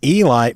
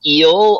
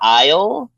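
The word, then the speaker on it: Eil: Oh, it's not Eli. Fuck me. Yeah, it's Eel or Isle.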